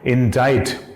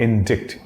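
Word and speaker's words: indict: और यारा वो वर्ड है इंडाइट। याद रखना इंडिक्ट लिखा है, बट इट इज नॉट इंडिक्ट, इट्स इंडाइट। Again C is silent and इंडाइट, ठीक।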